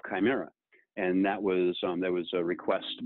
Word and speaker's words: Chimera: Just to round that out, manufacturers, as a matter of fact, Chimera, for example, K-Y-M-E-R-A, that is the phonetic spelling of Chimera.